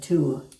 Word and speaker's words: two: TWO is two. And we used to pronounce the W. So, we still do in 20, twin, twice, and 12.